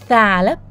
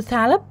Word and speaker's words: ثعلب: ايه بيبدا بحرف الثاء ثعلب انطقوا كده قولوا ثعلب ثعلب ثعلب ثوم ثوم ثياب شايفين لساننا ا طالع في كل الكلمات دي عشان اول حرف الثاء ثاء ثاء ثاء ثعلب